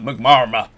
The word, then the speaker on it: McNamara: Return to Elder how do you pronounce that? McNamara.